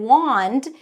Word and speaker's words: wand: And then wand, even though it has an A, it's an ah sound.